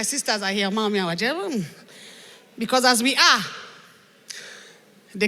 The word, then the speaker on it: Waje: Ladies and gentlemen, her name is spelled W-A-J-E.